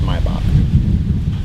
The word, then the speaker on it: Maybach: black maybach everybody like maybach just pronounced my box right right creme brulee